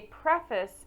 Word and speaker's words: preface: The other word that the prefix is pronounced differently is the word preface. A preface is the beginning of a book.